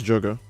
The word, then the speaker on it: Jogo: Not to be confused with Gojo. You mean Gojo, right? You guys mean Gojo when you're talking about the strongest guy? Nope. I didn't say it wrong. It's Jogo.